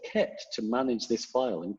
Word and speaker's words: kpt: that does this called kept let me show you that there it is there's a tool called it's spelt kpt but pronounced kept and it's a little